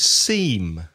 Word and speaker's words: seam: Another word which is unusual is seam. S-E-A-M. The same pronunciation as parece, S-E-E-M, seam.